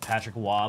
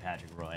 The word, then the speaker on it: Patrick Roy: is freaking crazy dude the name p like Patrick W but it's spelled that way spelled Roy Patrick Roy like you are such a herb if you say Patrick Roy out loud if you don't know